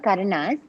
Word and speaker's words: karana: They're called karanas.